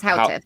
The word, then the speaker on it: Houteff: So back in 1929, a gentleman named Victor Houteff, I'm sure I'm pronouncing that wrong, Houteff, Houteff, a Bulgarian. It's Houteff, yeah.